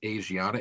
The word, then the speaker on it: Asiana: And then in 2013 um I don't know if it's pronounced Asiana Airlines um or Aana. It's as I a like Asia then NA.